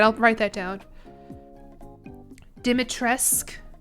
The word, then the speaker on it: Dimitrescu: Dimitresque. Dimitrescu. Dimitresque. U isn't pronounced in Romanian.